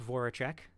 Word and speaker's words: Voracek: Jacob Voracek. I totally just mispronounced that last name, didn't No, I? that's No, correct. Voracek, Voracek.